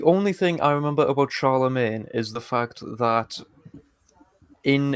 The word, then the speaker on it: Charlemagne: So, Charlemagne, which means literally Charles the Great, um, was born Oh, on the so it's Charles Magna. yeah, but it's pronounced Charlemagne.